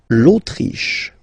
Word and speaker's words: Autriche: L'Autriche, okay, remember, sh here. L'Autriche, l'Autriche, okay?